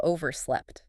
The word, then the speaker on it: overslept: And if you really struggle, uh, you might have overslept. Yeah. Slept past the time you meant to wake up. Notice that sound at the end.